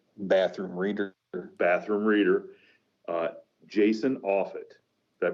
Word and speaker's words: Offutt: describes the quintessential bathroom reader bathroom reader uh jason offit that pronounce that right yep you got it all